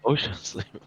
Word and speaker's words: Oschersleben: It's just Oschersleben. Oschersleben? Yeah, so just say Oshers. Oshers. And then Leben. Oshers. I just think of OSHA, kind of like the safety yeah. It's like, Oschersleben.